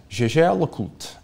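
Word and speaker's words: Jaeger-LeCoultre: It is Jaeger LeCoultre, and it is not Jaeger, because Edmond Jaeger fled his home in Alsace-Lorraine during the Franco-Prussian War of 1870. Fleeing the Germans and going to Paris, he would not have pronounced his name Jaeger.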